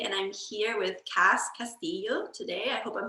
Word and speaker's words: Castillio: I grew up with people calling me Castillo, because that's like like Hispanic way of Right. pronouncing it in So it's California. Castillio. Castillo, because Okay. of the Spanish influence on the Philippines, Right. is Castilian Spanish.